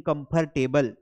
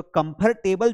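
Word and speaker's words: comfortable: ये आर जो होता है ना कंफर्ट के बाद आर है ये आर को प्रोनाउंस नहीं करना है। इसको बोलते हैं अरे आई एम फीलिंग कंफर्टेबल। तो कंफर्टेबल जो आप बोलते हो which is the wrong pronunciation of this word. Correct होगा कंफर्टेबल। देखो कंफर्टेबल। आर है ही नहीं। वहां आर मान के नहीं चलना है कि आर है।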